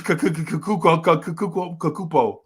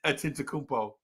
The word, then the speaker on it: Antetokounmpo: and this dude named Giannis Kakupo. Right. That's the way we pronounce his name before we had to put respect on his name. Giannis. That's how we pronounce his name until we had to put respect on it. Right? And he made us put respect on it. Now everybody says Giannis Antetokounmpo because we had to